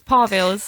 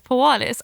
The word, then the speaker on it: Parvils: It's Parvils. All right, we'll leave it at that then. For ages, I thought Pawalis, and it's not even spelt to pronounce it as Pawalis either.